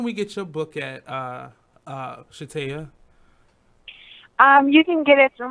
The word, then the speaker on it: Shataya: But it's Shataya? Shataya, yes. Shataya, woo, I said it right.